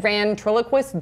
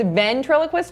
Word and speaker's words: ventriloquist: bad but you're love of Howdy Duty and Van triloquist dolls and that TV show V triloquist it's